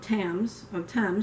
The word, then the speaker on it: Thames: October 5th, 1813, Battle of Thames, T-H-A-M-E-S. So I'm guessing it's pronounced Thames because I think that's how the river in London is spelled.